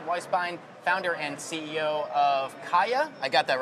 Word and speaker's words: KYA: All right, Jeff Weisbein, founder and CEO of Kaya. I got that right? Kaya. Got it.